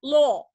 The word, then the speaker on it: law: Jadi kalau O pendek, O panjang ini, O panjang ini dia harus dibaca law. Bacanya adalah law. Nanti kalau O pendek di atas, yang tadi yang sebelum ini, bedanya. Ada law, ada low. Beda.